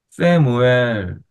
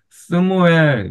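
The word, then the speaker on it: שְׁמוּאֵל: 여긴 쉐와가 나오면 세무엘. 그래서 옛날에는 요거를 스무엘 이렇게 발음했어요. 스무엘 아니면 써무엘 이렇게 발음했는데 요즘 그냥 에로 발음을 하는 추세예요.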